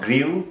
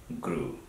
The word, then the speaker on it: grew: grow then it's not grieve that I pronounced incorrectly previously is grew okay make sure it's not grieve is grew okay GRE W then groan draw we